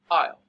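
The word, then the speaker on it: aisle: correct pronunciation okay so the correct pronunciation for this word is isle and it has a word that has the s in the end so it becomes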